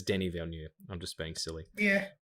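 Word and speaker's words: Denis Villeneuve: real problem with that i actually do know how to say it it's denny valeneu i'm just being silly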